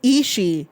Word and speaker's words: Ishii: For the record, guys, the way you pronounce Ishii is Ishii. No Ishii, just Ishii. That's all you have to say. Ishii. Do not say Ishii during Forbidden Door. It is just Ishii.